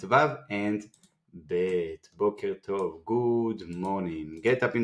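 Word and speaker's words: בוקר טוב: You can practice on your own with the other syllables over here. And now we can read the phrase Boker Tov.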